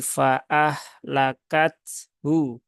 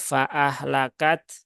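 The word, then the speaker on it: فأهلكته: dua sukun, yaitu di fa'ah lakat hu. Fa'ah lakat hu. Ya. Nah, maka ini haknya jangan dihilangkan, ya. Jangan fa'ah lakat. Nah, kalau fa'ah lakat nanti haknya tidak terbaca.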